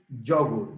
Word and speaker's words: yogurt: In English is yogurt. The accent goes in the first syllable.